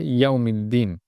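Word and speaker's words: يوم الدين: মালিকি ইয়াউমিদ্দিন, এখানে ইয়ার মধ্যে অনেকের সমস্যা হয় যে ইয়াউম বলে পড়ে, ইয়াউ। আপনি যদি ইয়াও বলেন তাহলে এখানে ইয়ার শুরুতে একটি হামজা চলে আসবে। সেটা আপনি মানেন কিংবা না মানেন, এটাই হবে। তো এই জন্য ইয়াও না বলে ইয়াও বলতে হবে, এক চান্সে বলতে হবে ইয়াও। ইয়াও একটু শক্ত করে ধরে পড়তে হবে, ইয়াউমিদ্দিন।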